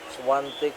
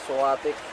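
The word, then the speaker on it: Świątek: Swantic po yan. Silent in kadalasan pino-pronounce po natin na suatic.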